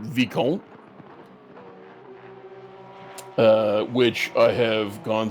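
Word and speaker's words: vicomte: con or vice count it's not visconte i i think it's i think it's vicam you would say that it's probably my camp but who knows i i've heard i think the the french pronounce it vecon uh which i have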